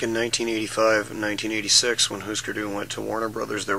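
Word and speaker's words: Hüsker Dü: didn't know the pronunciation was Husker Du. Husker Du, yeah. I thought it was Husker.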